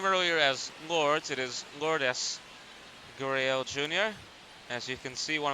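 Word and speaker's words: Lourdes Gurriel Jr.: Lord. So I mispronounced his name earlier as Lords. It is Lordis Guriel Jr.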